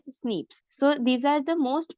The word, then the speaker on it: SNPs: polymorphism that is snps which is pronounced as Snips so these are the